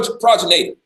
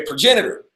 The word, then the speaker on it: progenitor: is your uh uh how do you say that word pro pro progator a progenitor always messing that word up right so this is